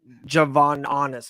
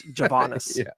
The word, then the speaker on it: Javanis: I kept on saying Javon Honest or something like that. It's Javanis. Yeah, it was.